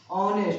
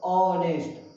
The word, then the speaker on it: honest: जैसे में देखिए अगर जो हम कहें ऑनेस्ट, HONEST, इसको अगर हम उच्चारण कहें तो देखिए पढ़ा जाता है, यहाँ क्या है, एच है, कॉन्सोनेंट लेटर है, कॉन्सोनेंट लेटर है, लेकिन साउंड उतारे तो ऑनेस्ट, आ रहा है उच्चारण, तो इसमें क्या हो जाएगा, एन लग जाएगा।